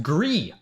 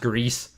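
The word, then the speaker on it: Gris: souls is really good pronounced gree which is great there we go there you go greece yeah it's pronounced greece it's pronounced greece i'm pretty sure i know better than you guys who is the streamer here it's pronounced grease the little dude two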